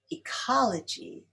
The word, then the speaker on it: ecology: Ecology is stressed on the second syllable.